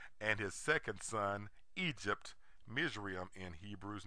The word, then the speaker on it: Mizraim: Egyptologists refuse to acknowledge that Egypt is the English name of Ham's second son, whose name is pronounced Mizraim in Hebrew.